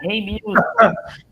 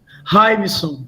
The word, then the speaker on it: Raimson: Reimilson. Raimson. Raimson, desculpe. Eu pronunciei errado o seu nome.